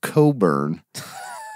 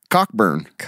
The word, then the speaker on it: Cockburn: pronounced Coburn, but it's C-O-C-K, man. or Burn. Yeah. Cockburn.